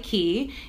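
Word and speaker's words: Quay: ver muy chiquitito se escribe que pero se pronuncia ki key Australia es una marca de lentes de sol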